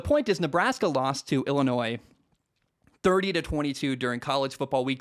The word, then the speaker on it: Illinois: The way the state of Illinois spells things, the S is silent. I hate that so much. Anyway, why include the S, I guess, is my point. It's Illinois is how it's spelled,